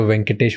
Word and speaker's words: Venkatesh: Venkatesh. Yes, That's sir. how I pronounce it?